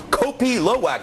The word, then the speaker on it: Kopi Luwak: It's called Kopi Luwak. Did I pronounce that correctly, Rachel?